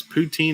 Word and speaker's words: poutine: do you get good poutine in ontario i think that's how you pronounce it yes poutine is correct um well gosh jeff